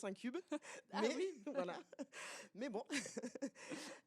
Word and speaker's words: InCube: Alors, moi, je le prononce un cube.